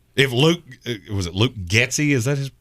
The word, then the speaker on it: Getsy: somewhere in there if Luke was it Luke getsy is that how you pronounce his name yep if he comes in